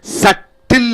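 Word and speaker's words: subtle: சட்டில் என்று சொல்கிற பொழுது அந்த மென்மையான உணர்வுகளும் உணர்ச்சிகளும் சிறு சிறு விஷயங்களும், அது சப்டில் என்று சொல்கிறோம்.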